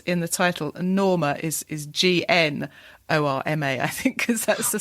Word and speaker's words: Gnorma: the title, Norma is GNORMA, I think, because that's the sort of visual gag from the start, isn't it? I pronounce it Gnorma throughout, just to add the G in, yeah.